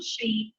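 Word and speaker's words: שׁין: And then this letter here, where it has the letter over the dot over the right arm, that is the Shin, pronounced like our sh sound.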